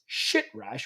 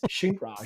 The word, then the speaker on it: Shintrash: But anyway, long story short, Dbrand responds and says, your last name basically is Shitrash, which is not how you pronounce it. It's Shintrash. So stupid.